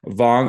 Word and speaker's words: Wang: It's Wang. That's how you say it in Mandarin. But in English, we kind of put our last name in the back. So, but Wang, almost like a V sounding, is the best way to go.